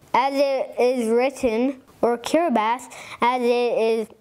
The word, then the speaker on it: Kiribati: Republic of kirati as it is written or kirath as it is pronounced is an island nation in the Central